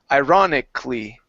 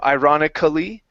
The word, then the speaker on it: ironically: of this word okay sometimes do this where we don't pronounce the Ali okay we actually just go straight to the L okay so this is one of those words so we say ironically instead of ironically ironically ironically good good